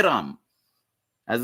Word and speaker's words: राम: Ra Ma is pronounced as Ra, and Ma. Ma is full. In Sanskrit, there is a half Ma where you will say Ram, and there is a full Ma where you will say Rama.